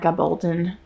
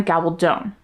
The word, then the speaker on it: Gabaldon: I'm going to start with the book Drums of Autumn by Diana Gabaldon. No, Diana Gabaldone. I looked up how to pronounce it.